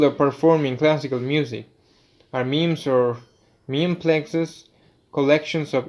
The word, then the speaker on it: memes: their minds doin coin the term memes rhymes with gyms for ideas that are